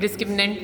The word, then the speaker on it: discriminant: हमेशा गलत लिखते हैं, गलत प्रोनाउंस करते हैं. डिस्क्रिमिनेंट. द राइट स्पेलिंग आपके सामने, दैट इज डिस्क्रिमिनेंट. और डॉक्टर साहब बच्चे क्या कहते हैं? डिस्क्रिमिनेट validity.